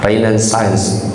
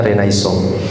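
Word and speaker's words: Renaissance: atau orang-orang sering mengatakan reinan and sence katanya dibacanya renaisong.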